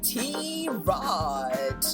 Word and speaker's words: tirade: And welcome to another episode of Tomboy Tirade. Wait, you know what, Persis? We are pronouncing it wrongly actually, apparently.